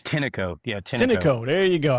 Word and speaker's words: Tineco: Is it Tyneco? How is it? Yeah, it's Tineco.